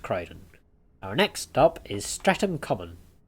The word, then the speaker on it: Streatham: Streatham was the correct pronunciation.